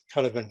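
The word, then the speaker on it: Cynefin: the kind of an it's a difficult word to pronounce it's a Welsh word colorman framework this um this breaks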